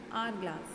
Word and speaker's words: hourglass: Here N is used, although this H is consonant, because we pronounce it as hourglass. Not here H is silent. Therefore we pronounce it as hourglass.